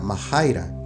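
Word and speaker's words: μάχαιρα: figuradamente guerra es esta palabra griega que se pronuncia mahaira que significa Guerra es decir que en el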